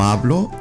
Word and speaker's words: hablo: siento lo siento no hablo espanol the H is silent no hablo espanol no hablo español